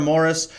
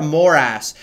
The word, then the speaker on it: Moras: Like, my whole family says it differently, so it sort of depends why I'm saying my last name for how I'm going to pronounce it.